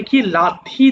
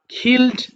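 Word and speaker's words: kill: আচ্ছা এরপরে খিক মানে কি লাথি দেওয়া বা লাথি মারা যেটা বলে খিল মানে হত্যা করা খিল খিলড খিলড তোমরা দেখেছো আমি কিন্তু কিল বলিনি তাই না উচ্চারণটা আসলে খিল হবে খিল মানে হত্যা করা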